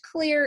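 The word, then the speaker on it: Xlear: that that's clear yes it's pronounced clear even though it's X le AR and they're done line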